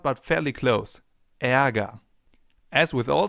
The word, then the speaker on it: Ärger: Ä, as in Ärger, the German term for anger. And anger actually contains a sound that comes pretty close. Anger, Ä. Ärger, Ä. Not the same sound but fairly close. Ärger.